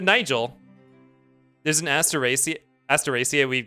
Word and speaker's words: Nigel: Did you just pronounce Nigel with a hard G? Nigel. I did. I did not do that. No, I said Nigel.